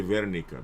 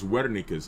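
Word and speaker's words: Wernicke: Now right here posterior speech area is called Wikis area right uh some people say Verika because they pronounce W as a V but it's Wika's area right uh Wika's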